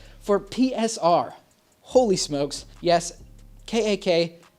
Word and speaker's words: KAK: PSR holy smokes yes kak that's pronounced k-a-k not CAC in Dutch that's a bad word okay we get it